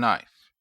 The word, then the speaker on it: knife: ship flow house and knife I draw your attention to the consonant diagraph SH and ship I also draw your attention to the consonant blend FL and Flo and the silent K in knife or we may have